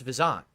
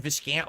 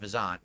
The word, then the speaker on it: Viscant: everyone says viscant or whatever it's actually pronounced vizant but no one knows that that's old school fgc everyone just said viscant over the years because they didn't realize it's actually pronounced vant but whatever um I